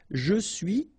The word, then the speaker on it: je suis: Je suis, tu es, il est, elle est, nous sommes, vous êtes, ils sont, elles sont. Okay, so je suis, final S not pronounced.